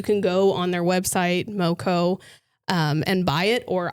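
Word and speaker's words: Meaux: This brand is called Moco. M A Yeah. M E A U X. Moco. It's the French pronunciation.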